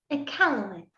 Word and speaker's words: Iqaluit: What is the pronunciation of the city? Iqaluit.